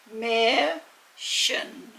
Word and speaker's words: Märchen: female horse a mare you use that mir and then add on a very soft sounding shen and that's the word mer shin and the emphasis is on the first syllable so if we pull it all together it's mation okay now the sleeve here